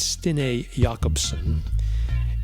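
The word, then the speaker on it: Stine Jacobsen: and look for stinee jacobson now we would pronounce that jacobson j-a-c-o-b-s-e-n but it's stine jakobson and the cd is entitled nitashlat n-i-t-t-a-a-l-l-a-t and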